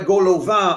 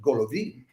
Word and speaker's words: Golovin: Then they do this piece by Golovin. I pronounce it the French way, but you can also pronounce it Golovin and Borodin.